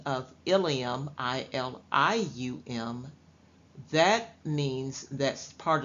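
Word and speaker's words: ileum: excuse me i-l-i-u-m yes sometimes in medical terms the words are pronounced the same spelled differently and have a different meaning so the spelling of Ilium i-l-i-u-m that means that's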